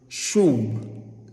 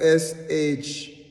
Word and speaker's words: Shuwb: These words, they come from the Hebrew word Shuwb. Shuwb is spelled S-H-U-W-B.